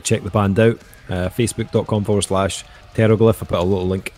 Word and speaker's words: Pteroglyph: go to the bathroom that's the silent p yes yes now you